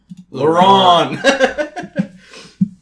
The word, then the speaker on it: Laurent: Laurent. What a weird name, man. Thank goodness we have this movie. Yeah, you're welcome, Laurent.